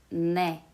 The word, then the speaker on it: 네: Is it ne or de? Short answer is ne. If you pronounce it as D sound, it sounds like T good for us, which is another letter.